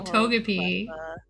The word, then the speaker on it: Togepi: Togepi.